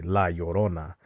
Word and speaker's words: La Llorona: Like they say La Llorona. Well, it's actually La Llorona.